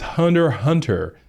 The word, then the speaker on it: Hunter x Hunter: one okay and not too far behind is Hunter Hunter uh it's actually spelled Hunter x Hunter but